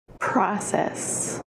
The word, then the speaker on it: process: Process. It has two syllables, process. Emphasis on the first syllable, process, process.